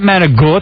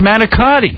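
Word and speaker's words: manicotti: It's not manag. It's manakotti. But how would you know different if it's what you've been taught?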